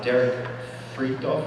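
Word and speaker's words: Derek Fridolfs: Derek Freakdorf is how I pronounce his name, and that is, these are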